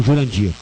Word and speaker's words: Jurandir: ouvir o descaso que foi esse senhor o Jandir né porque o cara é tão essa pessoa é tão boa que ela nem usa o nome dela de Jandir ela se pronuncia como Jurandir eh na realidade nessas eleições que passaram eu